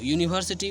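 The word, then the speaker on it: university: यूनिवर्सिटी पहला अक्षर हिंदी में अगर देखते हैं इसका, तो यू होता है, तो यानी कि य से उच्चारण हो रहा है, तो इसलिए यह जो क्या होता है, व्यंजन वर्ण होता है।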